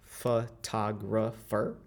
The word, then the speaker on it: photographer: that is stressed, so let's take, for example, the word photographer. So we have 4 syllables, photographer, so 4 of them. And if you think about which one is stress, it's going to be the second one. So photographer, so tag. That O that is located in the stress syllable is going to transform into ah.